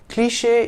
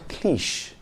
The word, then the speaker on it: cliché: It's because of this accent that we pronounce the word as cliché and not cliche.